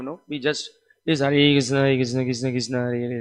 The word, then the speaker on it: Krishna: mentions the point that for chanting Krishna, the tongue should be used, and then for Rama, the upper and lower lip should be used, right? So we should use the tongue and the lips properly.